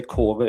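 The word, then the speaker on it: Kåre: I would say core in my own language, but core is okay. I like pronouncing things correctly, but we can. Norway would pronounce it differently.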